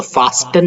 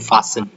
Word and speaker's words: fasten: तो फास्टन नहीं है, सबसे पहले तो FASTEN को बोलते हैं फासन, ठीक है?